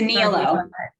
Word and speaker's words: Nihilo: It's a Nihilo.